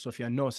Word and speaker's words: Sofianos: and my last name which Sophanos literally means Sophanos is the correct pronunciation.